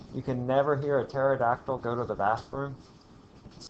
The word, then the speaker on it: pterodactyl: can never hear a pterodactyl go to the bathroom this has geologists for centuries youall know why the p is silent go tell your favorite